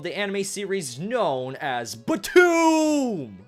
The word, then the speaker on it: BTOOOM: anime series known as BTOOOM! You have to yell it because there's 3 O's in this word. If you don't yell it, you're saying it wrong.